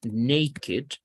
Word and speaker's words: naked: Por ejemplo, en la palabra naked. Naked, pues, aunque este ni siquiera es un verbo, es un adjetivo. Pero la pronunciación aquí sí es como pronunciando la E. Es una excepción.